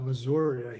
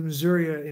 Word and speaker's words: Missouri: He has to add an A on the end just to put some twang in there, It's actually they're pronouncing that's the Missouri Indian tribe. You don't say it Missouri, you say Missouri.